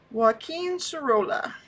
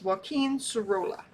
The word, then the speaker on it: Joaquín Sorolla: Um, so I had to look up how to pronounce his name. So it's Wen Serola.